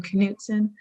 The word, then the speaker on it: Knutsen: I go by my last name canson is k n u tsen and a lot of times people butcher the pronunciation because naturally in English we silence the K so I always tell people it's like rowing a canoe with Zen that's a good one